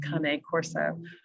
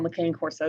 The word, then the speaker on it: cane corso: they're italian i understand it's supposed to be pronounced kane corso um but i'm going to call mccain corso because that's what most americans call them so she um she